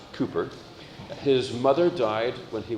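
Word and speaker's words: Cowper: the so it looks like cper but it's pronounced Cooper his mother died when he was six and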